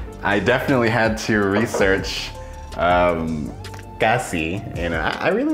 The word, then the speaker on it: cassis: And I was like, how do you say, I searched it, how to pronounce Cassis. And he's like, Cassis.